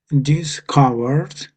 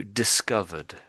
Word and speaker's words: discovered: And and next discovered discovered, yeah. Um Yeah. Yeah, that sounds pretty good. Yeah. Um is is the V is the tricky sound, I guess, isn't it?